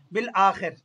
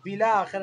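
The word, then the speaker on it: بالآخر: প্রত্যেকবার ব্যর্থ ব্যর্থ হয়েছিল বিল আখের এই দেখেন উচ্চারণ কি বিল বিলা আখের না বিল বিল আখের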